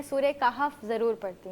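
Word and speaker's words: کہف: अच्छा अच्छा बुशरा साहिबा इन्होंने अभी जिक्र किया कि सूर एक तो उसका प्रोनाउंसिएशन काफ है या कैफ है? काफ काफ।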